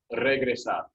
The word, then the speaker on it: regresa: think but um but when r starts a word you roll it even if it's not a double r so regresa which is yeah that's